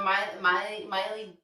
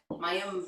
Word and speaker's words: Mayim: So Miley Bialik, Mayim Bialik. Say her name right.